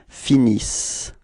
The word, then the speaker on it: finissent: Okay, and as usual for the verbs, you know, this E-N-T is not really pronounced. It only gives you the pronunciation of the s. Okay, so you get, for the verb, you will get ils finissent.